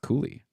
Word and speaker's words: Cuylle: And also, it's spelled Cuylle, and I was told that is pronounced Cooley.